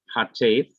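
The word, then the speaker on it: חטף: The Hebrew word katef, sometimes pronounced hatef, means hurried, and it is used to describe the half vowel sound.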